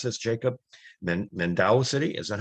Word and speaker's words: Mandaue: mispronounce this jacob then mandau city is that how you pronounce it yeah mandaue okay so the e is pronounced it's a mindaway city in in in in sibo in the philippines married with two children